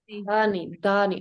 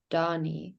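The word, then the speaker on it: dhani: Dani. And then he was telling me if I said that I pronounced it as it was Donnie, and that was very different.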